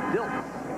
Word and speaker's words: Diltz: It's Diltz, not Ditz.